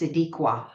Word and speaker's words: Sadiqa: Sadiqa is pronounced Sadiqa. Thank you for that. I'm sure if you haven't already had her on your podcast, you will, because her writing is incredible. Yeah. And I just wanted to point that out. The spelling is Sadiqa, but she's corrected me and said it's Sadiqa. It's pronounced Sadiqa.